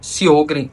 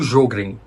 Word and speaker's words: Sjögren: Uma outra patologia que pode reduzir a salivação das pessoas é, por exemplo, a síndrome de Sjögren ou Sjögren, que se escreve assim, Sjogren.